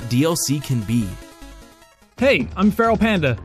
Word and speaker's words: FERALxPANDA: Hey, I'm FERALxPANDA. The X is silent.